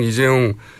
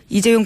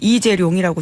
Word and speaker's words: 이재용: 최순실 씨가 이재용 부회장 이름을 이재룡이라고 주로 발음한답니다.